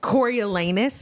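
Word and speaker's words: Coriolanus: says president coralus okay cor elanus is the pronunciation is that what you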